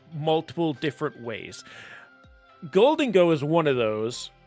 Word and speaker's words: Gholdengo: might have caught on I already said Gango instead of golden go and I was thinking about this today when I was deciding what deck to do for a video I'm like and I and when I was thinking I was like oh gold angle I'm like or goldo I'm like wait a minute it's golden go but I know I